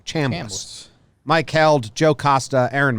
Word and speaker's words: Chambliss: I used to say Chambliss. My dad said Cham, like ham. Chambliss.